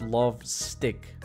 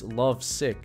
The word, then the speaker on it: Love Sick: I just realized something this Hammer is not love stick It's Love Sick bro I've been saying it wrong the whole time why is my frames